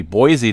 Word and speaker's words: Boise: Idaho that's spelled wrong I believe it's supposed to be Boise not bi okay but uh Bismarck